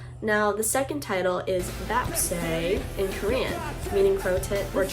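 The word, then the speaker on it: 뱁새: And now Silver Spoon, in parentheses crow tit, which in Korean that's pronounced as bapse, is another really interesting track that I highly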